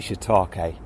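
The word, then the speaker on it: shiitake: heard pronounced and therefore when I said holy ake on the podcast last week I should have said holy shitake so sorry about that and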